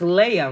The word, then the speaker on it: Leia: He said, I had to remember her like the Princess Leia. Yeah. Because her name is spelled different. Like, spell your name. Leia. Okay, and it's pronounced Leia, right?